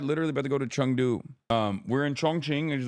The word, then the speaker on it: Chengdu: It is pronounced like Chengdu.